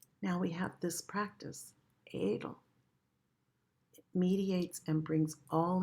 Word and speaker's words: Adl: And the practice is, it's spelled A-D-L, A-D-L, and it's pronounced Adel.